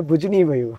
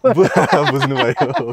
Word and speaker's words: बुझनु भयो: हमेशा याद रहता है, बुझनी भयो। बुझनु भयो। तो अभी तक हम जो कुछ भी, हमारा विनोद भाई, what is the right pronunciation? बुझनु भयो। हाँ, बुझनु भयो।